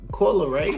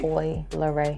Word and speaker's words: Coi Leray: Coi Leray. Coi Leray.